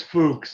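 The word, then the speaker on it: Fuks: Fuck. Yeah. Fuck. Yeah. Okay. Fuck. That's the guy's name. Fuck. Right. Is that how you say it? It's Fuchs, actually.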